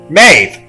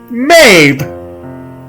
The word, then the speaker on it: Maeve: to listen to maeve that is maeve you pronounce that mabe mabe there is no letter b anywhere in that klingon